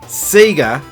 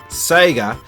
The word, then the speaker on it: Sega: in the West and the reason why you hear me say Seeger and not Saiga is that here in Australia and also New Zealand that's how we pronounce that we had no way